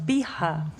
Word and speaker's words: Bihar: that so um you you were originally from bihar am i saying it right yeah yeah it's via pronunciation is it a small place where is